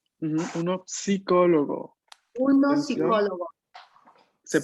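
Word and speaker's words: psicologo: Es en español que la P no se pronuncia. En italiano se tiene que pronunciar.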